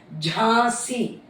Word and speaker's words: Jhansi: நீ இதுக்கு வந்து ஜான்சின்னு நிறைய பேர் அதான் ப்ரொனவுன்ஸ் பண்ணுவாங்க, ஏன்னா இங்கிலீஷ்ல JHANSI இருக்கிறதுனால. பட் அதோட ஆக்சுவல் ப்ரொனவுன்சியேஷன் வந்து ஜாசி. ஜா அண்ட் சி, அந்த ஜாலேயே அந்த நேசல் சவுண்ட் வருது.